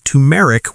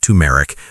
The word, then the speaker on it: turmeric: Okay, number 3 is turmeric with curcumin. Don't forget the R. Yeah, I was just going to say, because we made that mistake before, it's not turmeric. It's pronounced turmeric, but it's really turmeric.